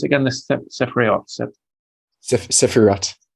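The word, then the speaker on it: ספירות: How do you pronounce it again? The Sefirot. Sefirot. Sefirot.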